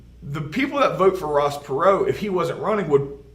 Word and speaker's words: Ross Perot: a guy named ross perrault it looks like ross parrot but it's pronounced perrault ross perot is going to run he is a oil